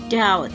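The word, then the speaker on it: doubt: Hai noda UC about Perhatikan cara membaca kata Daud yards out itu artinya keraguan jadi ketika membaca huruf b tidak ikut dibaca Jadi bukan noda up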